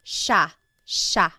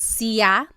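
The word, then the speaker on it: siya: It looks like it should be pronounced sa, but it's actually pronounced sha sha. There are some regions in the Philippines that might pronounce it sia, but for the most part in the central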